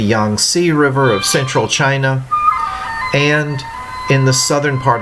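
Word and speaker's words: Qin: It was begun in the 200s BC by the Chin Dynasty and that's spelled Q I N but pronounced Chin.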